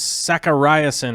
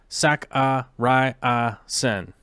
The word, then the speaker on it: Sakariasen: Karen says Sakariasen is how Sakariasen.